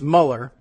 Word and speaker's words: Mueller: now offering pronunciation guides they say it's meller and not mhler and that makes more sense I mean it's okay so it's not Mueller which is what it looks like but I don't know